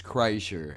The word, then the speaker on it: Kreischer: right there was Kreischer the proper way to pronounce the man's last name is Kreischer and yes I am